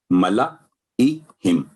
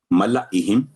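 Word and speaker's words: ملإيهم: آگے ہے سورہ یونس نمبر 10 اور ورس نمبر 84 ملائہم، ملائہم الف سائلنٹ ہو گیا.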